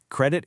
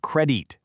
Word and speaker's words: credit: Credit is trust in action. Oh, and a super quick spelling B tip for you. Watch out for that short is sound in the second syllable. It's credit, not credite.